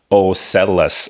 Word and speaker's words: OCELLUS: So this new product is called OCELLUS. I think I'm pronouncing it right. OCELLUS.